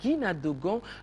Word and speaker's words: Guina Dogon: Une délégation de l'association de Guina Dogon me fait signe, mes cousins Dogon, il faut bien prononcer Guina Dogon.